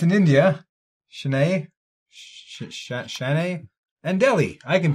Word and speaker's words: Chennai: And then for mine, it's going to be Tokyo and Go ahead, pronounce it, Ed. You all looked at me like I know what I'm talking about. Chennai.